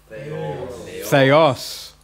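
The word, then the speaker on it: θεός: Okay, let's pronounce it correctly. Theos.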